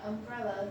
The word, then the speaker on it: umbrella: In umbrella, the stress falls on the second syllable.